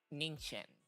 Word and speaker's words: Ningqian: Thank you, Ningqian. Ningqian. Okay, so that's how you pronounce his name.